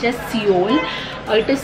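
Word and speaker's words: Sioul: It is pronounced as Seoul. It is Seoul the Pet Club.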